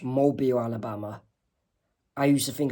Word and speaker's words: Mobile: And another difference in US and UK terminology is Americans would say mobile, while Americans would say mobile. Apart from the city in Alabama is pronounced Mobile, Alabama.